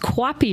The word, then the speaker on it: QAPI: we like acronyms in healthcare so it's um pronounced Cappy manager which is crazy but it is stands